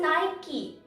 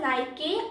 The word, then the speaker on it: Nike: you know what it is it's called just nike but most of the people call it as nike or nike and that is wrong the